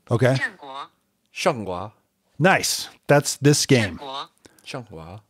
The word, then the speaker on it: Zhanguo: I got a pronunciation. Okay. ZhanGuo.